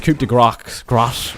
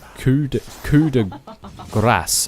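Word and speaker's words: coup de grâce: And a nice coup de grace, I can't say it properly. Coup de grace, I think it's pronounced. Coup de grace. Grace. You need to sort of roll the...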